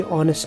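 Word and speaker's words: honest: Sound यहाँ पे ऑनेस्ट निकलती है, यानी एच साइलेंट रहता है और साउंड निकलती है वावल साउंड, इसलिए यहाँ पे एन यूज होगा।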